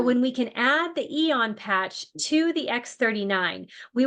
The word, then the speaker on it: AEON: The Eon activates, and it's spelled AEON.